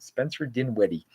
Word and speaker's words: Spencer Dinwiddie: Yeah, that's how you pronounce it. Spencer Dinwiddie.